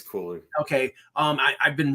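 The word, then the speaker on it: Cuylle: really good that now I thought it was Cully but they're pronouncing it as yeah it's coie it's coie okay um I I've been really impressed by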